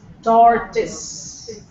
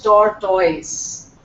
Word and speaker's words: tortoise: or opportunity this one the word is toris toris that's the pronunciation not tortoise it's toris and all Indians most of them pronounce it wrongly it's torus see this